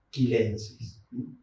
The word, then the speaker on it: chilensis: Y el epíteto, aunque está relacionado con Chile, no podemos transformar la transformación, lo latinizamos, es latinizado. Entonces tenemos que pronunciar chilensis.